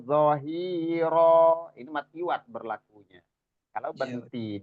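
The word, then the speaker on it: ظهيرا: Fala takunan zahir. Pak Lazuardi berhenti tadi. Berhenti di situ, nggak zahir dibacanya, tapi zahiro.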